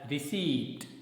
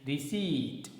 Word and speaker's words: receipt: i p t and generally the students speak it as received but it is not correct the correct pronunciation of this word is receipt here the sound per is silent okay next word m-o-u-s-s-e